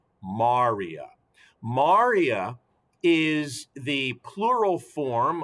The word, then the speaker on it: maria: maria maria or maria more appropriately this is pronounced maria maria is the plural form of the singular